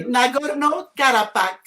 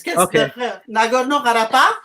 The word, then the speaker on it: Nagorno-Karabakh: between Armenia and Azerbaijan over the territory of Nagorno-Karabakh. Am I pronouncing it right? Yeah, but it's okay. Nagorno-Karabakh. You can try that. It's Nagorno-Karabakh.